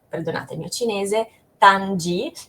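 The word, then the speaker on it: Ganzhi: perdonate il mio cinese, Tanji, che se lo dovessimo scrivere in lingua occidentale sarebbe G-A-N-Z-H-I, quindi Ganzi, però non è la pronuncia corretta.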